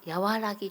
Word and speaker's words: 和: てありますね和というのは和らぎと読みます和らぎを持って